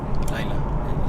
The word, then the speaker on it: Layla: It's me, the girl with autism. Layla. It's pronounced, Layla, yeah.